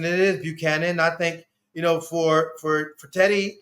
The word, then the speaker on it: Buchanan: I hope he does, because let me make sure I'm pronouncing it. It is Buchanan.